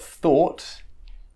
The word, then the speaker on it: thought: now let's look at the or sound of oh ugh and that rhymes with salt so we've got six past participles or simple pasts so we've got thought which is the past